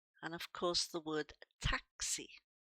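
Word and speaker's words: táxi: And of course the word taxi. Notice the accent here is telling us to stress this word on this particular syllable. Taxi. It's also opening that a making it sound more like an a.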